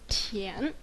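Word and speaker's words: 田: can tell me hotter oh okay um the pronunciation is tien the meaning is land tien means land you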